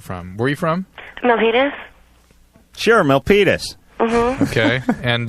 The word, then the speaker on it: Milpitas: Let's just quickly talk to Melanie, because this is, first of all, I can't pronounce the town you're from. Where are you from? Milpitas.